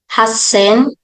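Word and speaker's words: はっせん: pronouncing 8,000 It's Hen may konting diin sa S kasi dalawa siya double consonant po Hen minasan can you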